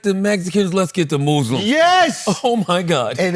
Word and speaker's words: Muslim: They got the Mexicans, let's get the Muslims. Yes! Oh, my God. And it's Muslims, not Muslims.